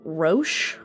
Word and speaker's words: Roch: we have on our butcher their names because they're French but it's Roche but we'll call him Roach throughout so roach is